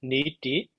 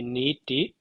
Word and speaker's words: nīti: next designers oh uh this is also needy we should say neeti and then here another